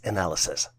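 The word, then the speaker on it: analyses: a n a l y SES and is pronounced as analysis are you ready for more here's the question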